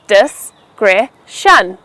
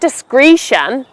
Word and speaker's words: discretion: It's pronounced as discretion, not discretion. Make sure you stress the second syllable, cre, so you say it as discretion.